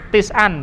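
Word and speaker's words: تسعًا: Tis'an ya, bacanya tis'an.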